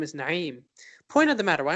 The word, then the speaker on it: Naim: pride is you know pronouncing your name the way it should be as opposed to conforming to how other people pronounce it like I get it